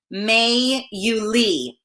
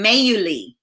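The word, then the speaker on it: Mayuli: My name is pronounced May Yuli. It's Cuban. May Yuli.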